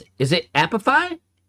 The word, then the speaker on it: Apify: Wait, is that really how you're supposed to pronounce the name? Epiphy? There's no way it's Epiphy. Okay, I was gonna say, there's no way Epiphy is the right way.